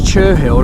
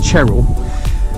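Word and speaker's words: Cherhill: second monument now uh which is chur hill i think it's pronounced cheryl uh white horse uh again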